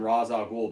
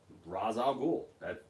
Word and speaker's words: Ra's al Ghul: you know so I'm glad they started calling him Ra's al Ghul because that's his name Ra's al Ghul that's what it's always been Pam says Wendy and